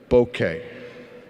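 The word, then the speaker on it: bokeh: use a lot of blur or bouquet it's pronounced bouquet Boca is a city in Florida also known as God's waiting room that came out didn't it it came out I'm doomed bouquet it means the quality of blur now if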